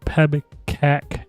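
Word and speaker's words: PEBKAC: Now, do you know what pebbac is? It's spelled P E B K A C.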